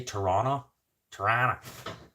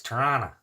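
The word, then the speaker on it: Toronto: what's funny it's like people say toron tan it's toron and then there's Chicago people say it the same way you just if you're going to say toron you gota say you got to say it like Chicago Chicago many piss jugs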